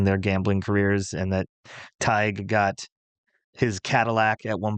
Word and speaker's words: Tighe: they I think meet it's pronounced like Tighe.